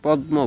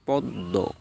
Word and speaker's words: পদ্ম: বলে নাও সঠিক উচ্চারণ হচ্ছে ছদ্দ পদ্ম অনেকে পদ্ম বলেন কিন্তু সঠিক উচ্চারণ হচ্ছে পদ্ম 11 নাম্বার রুলস দেখুন শব্দের মধ্যে বা শেষে